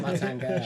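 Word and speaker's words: Martin Guerre: Martin Gare. She gets the pronunciation right.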